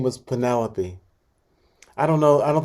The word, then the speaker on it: Penelope: to pronounce it what what do people say the wrong thing they don't say pentalope do they they say they do